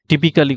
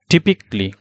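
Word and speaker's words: typically: or visiting parks তাহলে এই যে আমি এখানে টিপিক্যালি কথাটা বললাম তার মানে এটা আমাদের ভুল প্রোনাউন্সিয়েশন তাহলে কারেক্টটা কি আসবে কারেক্ট প্রোনাউন্সিয়েশন হচ্ছে টিপিকলি অর্থাৎ টিপিকলি টিপিক্যালি টা হয়ে গেল টিপিকলি দেখেন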